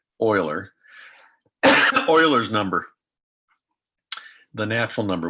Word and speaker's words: Euler: it's euler um it's it looks like it's euler but it's not so um leonard oiler euler's number the natural